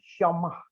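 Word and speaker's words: שמע: Transliterasinya dibacanya syama, pengucapannya syamah.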